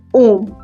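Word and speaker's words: homme: और आपको तो पता ही है कि फ्रेंच में जो एच होता है साइलेंट एज वो भी वोवेल ही होता है। वोवेल साउंड ही होता है क्योंकि ये कैसे प्रोनाउंस हो रहा है? ओम।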